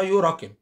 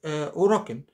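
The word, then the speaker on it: 裏拳: لو الاوراكن هنطقها بالانجلش يبقى هنطقها يوراكن. وطبعا طبعا حضراتكم اعلم مني هي بتتنطق اوراكن. يبقى اذا هنا في اختلاف. اليو، حرف اليو في في الياباني بينطق او. يعني هو بينطق او.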